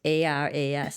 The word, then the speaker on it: Aras: So it's A-R-A-S.